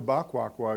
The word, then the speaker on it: Baquaqua: But let me just go back to Baquaqua again, because of the pronunciation because we were completely wrong because it's actually two words. It's "Ba" in Hausa. It's "Ba" and "Quaqua," and then-- AUDIENCE: Equiano has got one word, you said.